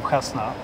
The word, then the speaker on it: Khazna: what your responsibilities are congratulations on very good pronunciation of kasna by the way I'm not arabic speaking but